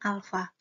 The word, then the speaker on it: alfa: disebut dengan Alfa jadi yang kayak huruf a yang di dalam kurung itu dibacanya Alfa nah koefisien muai panjang